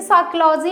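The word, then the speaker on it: psychology: जैसे साइकोलॉजी में P हमारा क्या होता है, साइलेंट होता है, तो P से कोई स्टार्ट नहीं होता है।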